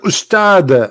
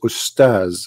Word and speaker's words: Ustaz: say the word because the word Ustads is not correct in the way they say it. The word in Arabic is Ustaz, which means a master, teacher. So they call themselves Ustaz, teaching you rubbish.